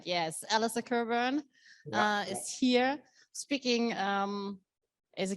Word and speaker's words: Cockburn: just make sure that my name is pronounced coburn in a good scottish way you could be right yes alissa kerburn is here speaking as